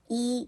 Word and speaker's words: 一: yíbèizi So I repeat When one (yī) is followed by four tones, yī should be pronounced as yí, understand?